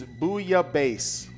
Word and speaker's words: bouillabaisse: The proper pronunciation is bouillabaisse.